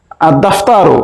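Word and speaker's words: الدفتر: পারি আল হুরুফুস শামসিয়া আদ দাফতারু এখানেও আলিফ লামের লাম উচ্চারণ হচ্ছে না তাই এটিকে আমরা বলতে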